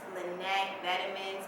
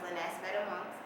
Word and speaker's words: Lenahc Vetaments: A lot of people think that it's pronounced Lenahc Vetaments, but it's really pronounced Lenahc Vetaments.